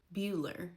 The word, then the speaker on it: Beulah: Bueller for Beulah.